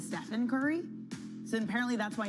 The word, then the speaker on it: Stephen: Apparently, like back when this deal was first being negotiated, Nike lost out because they mispronounced his name. A representative did and called him Steven instead of Stephen Curry.